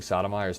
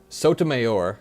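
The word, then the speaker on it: Sotomayor: criminal and treasonous acts I'm mispronouncing sodom's name let me see I thought it was Sodom but I might be mispronouncing it oh to myor right so mayor today's decision to Grant okay we read that Soto mayor that's good joined by Kagan and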